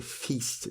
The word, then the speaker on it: feast: c'est fist ou fest, alors que pour le festin, c'est feast. Donc du coup, ça se prononce bien avec un long i.